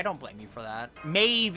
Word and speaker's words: Maeve: blame you for that Maeve is not how you would think that that is sad we mean like Queen Meb yeah queen queen Maeve however you okay yeah I don't know how it's pronounced yeah I think it's amazing yeah it's Maeve because it's Gaelic it's weird it's like